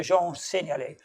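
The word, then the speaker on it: Jean Seignalet: french accent so sean said okay so proper pronunciation is your doctor jean ceniali but anyway there we go so that's an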